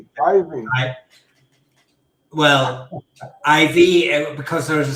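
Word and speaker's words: Iveagh: I think built by the Guinness family originally, but um it's a very it's a very nice place, but it's the Ivy Gardens. That's the Dublin pronunciation.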